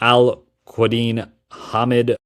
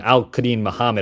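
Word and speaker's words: Al-Quadin Muhammad: up there in age and Kenneth Gainwell and Al Cadin Muhammad. You know I think this is a C type of offseason. Not a lot done and Al Kadin Muhammad actually.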